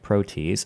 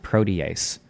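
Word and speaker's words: protease: harboring harboring the matured membrane Fusion Machinery transmembrane protees Serene 2 which Co colocalizes with A2 at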